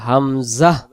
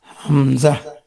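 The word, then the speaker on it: همزة: মধ্য অংশ শেষের অংশ এটাও এই গলাটার শুরু থেকে অর্থাৎ জিহ্বার গোড়া আর গলা যেখানে শেষ শুরু ওই জায়গাটা থেকে আমাদের উচ্চারণটা হবে হামজা হামজা তাহলে হামজা অক্ষর হলকের প্রথম থেকে শক্ত করে পড়তে হয় আপনি এইটাকে বইটা বাইর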